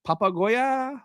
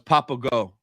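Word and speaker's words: Papago: it's called I think Papa Goya what yes papa Goya right right so Papa Goya app did I spell it right oh it's papao not Papa Goya my bad this right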